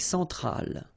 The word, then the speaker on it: centrale: L'Amérique centrale. Same thing here. Centrale, remember, E-N, nasal, so it goes in your nose.